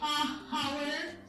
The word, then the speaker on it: hour: Do we say hour? No, we don't. We say an Hour. Hour not. Hour. This again is silent.